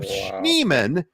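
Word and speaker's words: Schneemann: major league player then we have schneeman that rhymes with Freeman and he's like his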